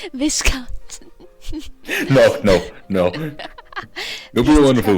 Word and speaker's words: Viscount: Viscount.